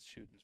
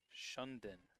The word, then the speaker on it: Shuden: We spent the entire Epping Sunapee game for the boys calling Elizabeth Shuden's brother Shunden with an extra N in the middle.